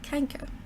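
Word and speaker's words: chancre: upon the genital organs the French called the ulcer a Cheng Cheng Coeur all as we would pronounce it canker the common name is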